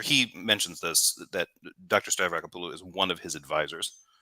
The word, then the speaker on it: Stavrakopoulou: And also it's pronounced Stavrakopoulou. Okay. Now that would be difficult to pronounce if you didn't know how to do it.